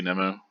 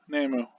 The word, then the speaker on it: Nemu: or probably probably i'm probably going to say nemo because that seems a little bit more into the english pronunciation nay yeah nemu anyway nemo whenever i say nemo it doesn't